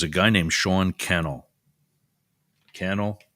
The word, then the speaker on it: Cannell: Cannell rhymes with channel.